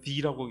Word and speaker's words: the: 이건 D라고 읽습니다. 더라고 하면 안 되고요. 모음 앞에선 D라고 읽습니다.